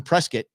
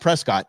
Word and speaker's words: Prescott: The reason why we're in Prescott, remember, it's not Prescott, it's Prescott, rhymes with biscuit.